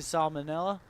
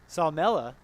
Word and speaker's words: Salmela: Hud decides to go past him straight to Salmonella. That is not how you say it. My apologies. Salmela.